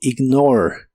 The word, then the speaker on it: ignore: de inglés es ignore no se pronuncia la e del final solo ignore ignore y lo puedes usar en